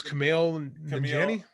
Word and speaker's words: Kumail Nanjiani: Kamal, I always say his name wrong. I think it's Kumail Nanjiani.